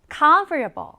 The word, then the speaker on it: comfortable: 강세는 앞에 넣어 주시면 돼요. 읽어 볼게요. comfortable.